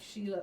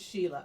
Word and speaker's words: Sheila: It is pronounced like Sheila. It is Sheila.